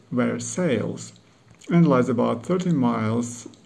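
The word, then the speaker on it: Versailles: hmm Woodford Reserve first I must go to Westside which as everyone knows is just outside Paris only this word style is pronounced where sales and lies about 30 miles west of Paris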